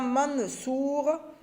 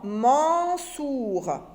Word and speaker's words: Mansour: On ne dit pas Mansour parce qu'en français, ça n'existe pas. Mon n'existe pas. S'il vous plaît, c'est le son en. Vous devez prononcer correctement le son en. Mansour.